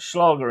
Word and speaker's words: Schlager: That Schlager in the World Cup. He was one that stood out to me. Whether it was because his name rhymes with lager, that's probably why.